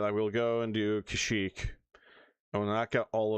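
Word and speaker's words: Kashyyyk: will instead leave go to Kashik or as they call it in this game for some reason Kashik. Um I know at the time that's how they pronounce it but although I do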